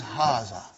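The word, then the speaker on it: هذا: am going to see it is pronounced like but this alif is not written it is explained in the key also so it is haza okay means this and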